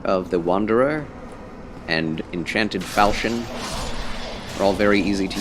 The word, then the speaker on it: Falchion: Yes, when you realize that the H in Falchion is silent. Yes, Falchion.